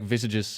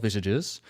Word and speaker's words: visage: Like visages have been around for quite a while, even though I pronounced it as visage at the beginning. Apparently it's called visages.